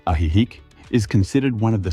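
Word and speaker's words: Ajijic: The town of Ajik, pronounced Aihik, is considered one of the safest communities in Jaliscoco.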